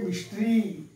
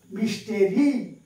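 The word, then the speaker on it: mystery: he lives is এ মিস্ট্রি মিস্ট্রি স্পেলিংটা দেখো এম ওয়াই এসটি আর ওয়াই মিস্টেরি কিন্তু উচ্চারণ হব মিস্ট্রি মিস্টার মানে রহস্যপূর্ণ সে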